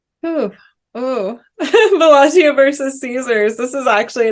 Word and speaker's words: Bellagio: this list says Bellagio, but I always thought it was Villaggio. I was wondering why you pronounced it that Yeah, way.